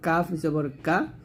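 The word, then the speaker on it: ك: এখানে কাফ এবং কফ দুইটা খুবই গুরুত্বপূর্ণ দেখুন কাফের আমরা আকারটা দিয়ে পড়বো যেমন কাফ জবর কা আর এটা হবে কফ জবর ক এটা কিন্তু কাফ না এটা হচ্ছে কফ কফ জবর ক মোটা করতে হবে কাফ পাতলা হবে কফ মোটা হবে খ জবর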